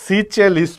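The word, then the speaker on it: Seychelles: clear তারপরে রুবা লিখ সিচেলিস নাকি সিজেলিস হ্যা উচ্চারণ একেকটা একেক রকম হয় সিচেলিস পড়বা সিচেলিস এইযে সিচে সিচেলিস ঠিক আছে এখন প্রশ্ন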